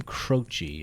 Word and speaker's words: Croce: Or Jim Croce, I've also heard his name pronounced as, but I think Crochet just sounds better. Although it kind of sounds like you're saying touche.